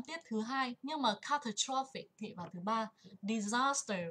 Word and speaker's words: catastrophic: Trọng âm và âm tiết thứ hai. Nhưng mà catastrophic thì vào thứ ba.